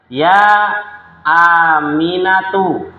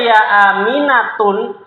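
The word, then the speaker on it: يا أمينةُ: dibaca dah tanpa tanwin contoh ya aminatu ya aminatu bacanya dengan dah tanpa tanwin kalau dibaca ya aminatun salah ya Jadi ya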